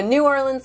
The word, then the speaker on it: New Orleans: you gotta say it right darlings it's a New Orleans Louisiana and we took myself and my daughter